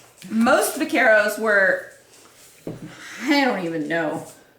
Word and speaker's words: vaquero: Pronounce it correctly then. Vaquero. No, that is no. No. You sound like somebody that's going, tacos! I like tacos! It's Vaquero.